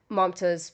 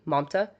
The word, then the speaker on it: Mamta: And, so Nadia Navarro is Mamta's best friend, one of them.